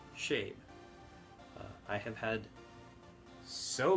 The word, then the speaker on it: Shabe: people pronounce it as shabi which never has made any sense to me because there is a word that is s h a d e that is pronounced shade if you turned the